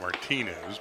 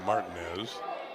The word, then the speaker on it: Martinez: throwing in the bullpen looks like martinez but it's pronounced martin is jack got cuffed around